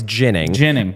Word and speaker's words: Ginning: Barkey, Chiernik, Ginning, got to say it right. It's Ginning.